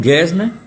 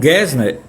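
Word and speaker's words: Gassner: Ora, Boal conhece e é aluno de um professor chamado John Gesner. John Gesner é absolutamente fundamental para Augusto Boal.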